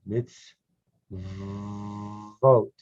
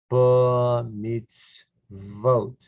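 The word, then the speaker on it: מִצְוֹת: line number nine vote think of the rule two dots this has no vowel so it's a new syllable mids vote that's the o because it's got a dot over it vote meets vote meets vote okay let's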